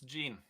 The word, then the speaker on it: Jean: Is it Jean-Frédéric Lietro? It's Gene. Gene, is it Gene? Apologies about that. Yeah. I went a bit French with his name there. Well, Gene, you can tell Gene that he was pretty